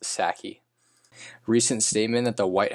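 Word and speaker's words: Psaki: white house press secretary jen sasky sorry now i know it's pronounced saki recent statement that the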